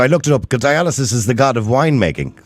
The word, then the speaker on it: Dionysus: Dionysus. At least you pronounce it right. Yeah, I didn't pronounce it right. Dionysus.